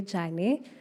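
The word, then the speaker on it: Yane: And then on Facebook, it's on Jan. Um, yeah, that's it. Oh, Jane, spelled as Y A N E, but pronounced as Jan.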